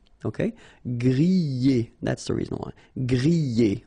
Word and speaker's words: griller: You pronounce them E, okay, even if you've got this R, okay, this combination of 2 letters, R at the end, will give you the sound E, all right, so griller, okay, let's see the others.